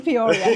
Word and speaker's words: Peoria: In Poria. That's how you say it. I got to get the pronunciation right.